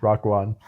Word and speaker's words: Raekwon: Stamp of approval from Wu-Tang Clan member Raekwon. Yeah, that's how it's pronounced. Raekwon.